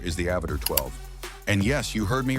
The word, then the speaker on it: Avatr 12: Coming in at number 4 is the Avatr 12. And yes, you heard me right. It's pronounced Avatr 12, but the name isn't the weird part.